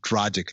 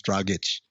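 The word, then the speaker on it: Dragić: It's like people who say Goran Dragic. No, it's Dragic.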